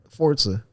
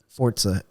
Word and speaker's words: Forza: So Forza, Forza? Forza. I get it. Some people say Forza, but it's Italian. Oh. And it's actually pronounced Forza, like pizza.